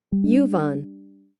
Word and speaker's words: Yuvan: Uvan, Yuvan. Let's see. Oh, Uvan. Oh, where was I? Tell me, beautiful. How do I pronounce it? Yuvan. Okay, say it slower. Yuvan. Thank you, baby.